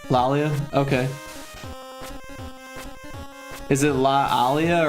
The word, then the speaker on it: Laalia: Lalia. Okay. Is it La Alia or Lalia? It's more like a British double A sound.